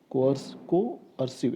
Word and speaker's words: coercive: Coercive. It's three syllables word.